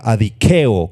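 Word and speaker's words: ἀδικέω: Muy bien, la palabra griega para injusticia o para injusto es la palabra adikeo, con K y acento en la E.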